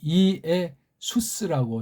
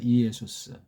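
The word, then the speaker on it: Ἰησοῦς: 그래서 이의 수스라고 신약을 중심에선 그렇게 해 줘야 돼요. 이의 수스.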